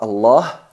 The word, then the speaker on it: Allah: La lam de la palabra Allah en todo el Corán tiene dos estados, o pasa por dos procesos, o hay que pronunciarla de dos formas, enfatizada y atenuada.